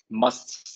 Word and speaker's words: must: Must is pronounced M-U-S-T, must.